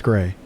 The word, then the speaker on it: Gray: I was like, I'm not even going to mess around, which is why I'm so upset about the Gary thing. I keep calling it Gary. It's Gray.